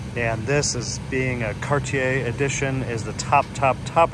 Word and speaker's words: Cartier: Lincoln Town Car Cartier some people may say Cartier or Cartier depending on where you're from but trust me the correct French pronunciation is Cartier so this is a